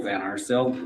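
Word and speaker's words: Van Arsdale: My name is Van Arcil. Last name is spelled V A N A R S D A L E.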